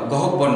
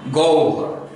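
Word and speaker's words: গহ্বর: র বসিয়ে দিলাম তাহলে উচ্চারণটা হচ্ছে গ ও ভর গহব্ব না গ ও ভর আমরা একটু খেয়াল রাখবো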